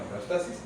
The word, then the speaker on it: homeostasis: no tiene acento, pero se acentúa en homeostasis.